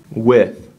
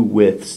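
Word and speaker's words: wythe: The second vocabulary word, width.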